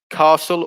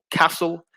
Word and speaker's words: castle: um there's two pronunciations castle or castle but with whichever pronunciation you use there's no t so the t asylum